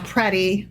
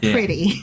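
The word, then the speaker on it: Pretti: And his name is pronounced Preddy, not pretty.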